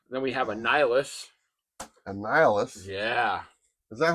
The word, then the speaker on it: Annihilus: Annihilus. Yeah. Is that how you pronounce it? Yeah. Are you sure it's not pronounced something else? Nope. Okay. And Helios? No. Annihilus. Annihilus?